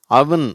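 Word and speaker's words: oven: இதை தப்பாக ஓவன்றாங்க, இந்த அடுப்பை ஓவன்றாங்க, அது அவன் அப்படின்னு சொல்லணும்.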